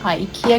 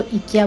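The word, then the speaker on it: IKEA: अच्छा, मज़े की बात ये है कि कुछ लोग आइकिया भी कहते हैं, इसको प्रोनाउंसिएशन करते हैं आइकिया क्योंकि आई बोलते हैं। यहाँ पे आइकिया को इकिया बोलते हैं क्योंकि यहाँ पे आई को ई बोलते हैं।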